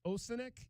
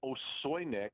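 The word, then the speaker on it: Osojnik: And another big man in Arnie, is it Arnie Osinek? Is that how you pronounce that? It's Osoynik. Osoynik?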